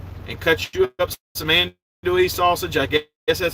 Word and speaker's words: andouille: up an onion, and cut you up some andouille sausage. I guess that's how you pronounce it. It's a Cajun-style French sausage. It looks like the kielbasa, you know, the horseshoe-shaped sausages, but it's called andouille, A-N-D-O-U-I-L-L-E.